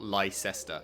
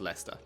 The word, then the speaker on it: Leicester: yeah even right here this is leicester not lyster it's just leicester so i don't know